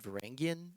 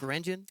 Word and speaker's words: Varangian: you explain uh maybe why we pronounce it varangian and not vangan yes you're right um